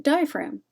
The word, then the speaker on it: diaphragm: you spell the word diaphragm there are wrong answers here because there is a sneaky silent letter in the word diaphragm and y'all are my